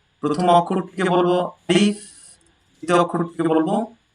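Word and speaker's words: ألف: দাড়ি নাই এটা হচ্ছে আলিফ এটার উচ্চারণ শক্তভাবে আলিফ আলিফ শক্ত ভাবে উচ্চারণ হবে আলিফ আলিফ তারপর যে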